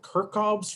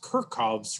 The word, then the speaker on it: Kirchhoff's: of weird things but i've always heard this pronounced kirchhoff's rules and um goodness you